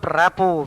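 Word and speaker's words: rapport: grasping greedy and plundering rapo RPP ort the T is silent Rapa means understanding or emotional closeness harmony you must develop rapo with your lecturers or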